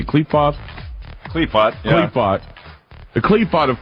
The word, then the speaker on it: Qliphoth: Qliphoth, yeah.